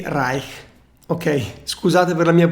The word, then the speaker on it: Reich: name is lilly reich pop rake in german it would be lily rai ok sorry for my